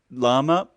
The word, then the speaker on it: lama: Lama, it's a female word. Lama, it's 2 syllables.